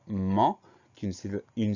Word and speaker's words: ment: Donc ment, M-E-N-T, le son en C-E-N, le T muet à la fin.